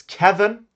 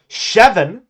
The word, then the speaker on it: Kevin: For example, my name is Kevin in Swedish, but it's not pronounced chevon.